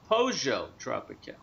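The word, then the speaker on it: Pollo Tropical: always thought it was poo tropical you with me m many many Spanish people in Miami call it pojo okay pojo tropical they pronounce it with a J not with a silent l so I'm not sure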